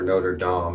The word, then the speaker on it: Notre Dame: Even though the University of Notre Dame, or Notre Dame as it's sometimes pronounced, even though it's one